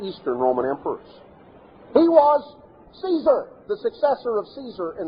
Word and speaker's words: Caesar: Actually, the Latin pronunciation of Caesar was more like Kaiser.